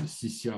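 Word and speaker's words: 西夏: Au centre, vous voyez Xixia, enfin, qui se prononce Xixia en chinois.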